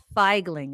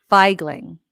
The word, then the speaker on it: Feigling: know what figing is does anybody know what feigling is anybody anybody anybody it's right here in my glass it's clear all right it's not vodka it is not water it's not Jin it is it feigling anybody anybody it's spelled feig g l i